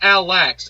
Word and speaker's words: Alaxx: And it's pronounced Alaxx. Anytime you see my name, it sounds like a laxative.